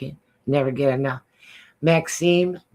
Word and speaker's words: Maxim: I can, We and can just for the listeners out there, it's pronounced Maxim, Maxim. not the Canadian or French Maxim, Oh. but Maxim.